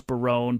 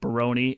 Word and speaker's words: Barone: of the campus center, which was Barone, but they pronounced it Baroni.